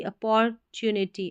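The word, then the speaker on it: opportunity: अब इसको ठीक है, अपौर ऐसे ही पढ़ना, ओपोर नहीं पढ़ना, अपौर, OPPOR, अपौर, TU, neat, अपॉर्चुनिटी, अपॉर्चुनिटी यानी कि मौके, अपॉर्चुनिटी मौका है एक, तो अप्रीशियस अपॉर्चुनिटी।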